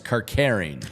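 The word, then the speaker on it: Kerkering: Greg wants to know, is it curring or caring? And I believe Tom McCarthy was saying caring last night. So Tom is a beast at pronunciations and his job. So I'm going to go with Tom on that one. It's Kirkering. You could be like me,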